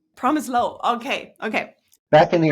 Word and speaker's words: Promislow: enough how would you how is it right promise low promise low okay okay back in the old country it